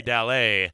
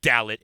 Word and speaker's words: Dallet: just like last night I've been saying your name wrong but I'm not gonna do it on the air God damn it don't call this guy Jeffrey dalit unless you're a dumbass